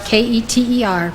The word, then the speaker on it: Keter: spherote is called Qatar it's spelled k-e-t-e-r pronounced keter it means crown as